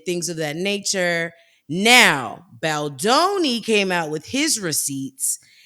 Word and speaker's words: Baldoni: Baldoni. Baldoni. I And believe so so. so Blake Lively is suing Baldoni for like him being inappropriate and things of that nature. Now, Baldoni came out with his receipts, and I believe